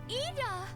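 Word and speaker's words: Yda: Ida! That is how you pronounce that name, though.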